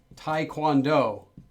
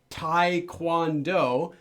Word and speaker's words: taekwondo: Because it was written in English as taekwondo, romanized. It's not Americans' fault for saying it wrong. It's Romanization's fault for writing it as taekwondo.